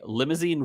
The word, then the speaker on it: Limousin: So it's like the French. Limousine. Yeah, exactly. Limousin.